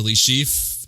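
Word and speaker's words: Le Chiffre: as mr white who was the broker to le chief in the ugandans in the opening see i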